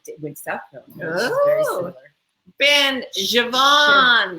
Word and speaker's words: Siobhan: Ben Javon. Javon. Isn't that Javon. beautiful? Did you know that's how it's spelled?